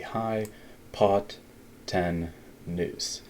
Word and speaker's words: hypotenuse: and the hypotenuse again the way we pronounce that is like this we say the high pot 10news and there's the largest of three sides or values make sure you can hear how I am saying it say it out loud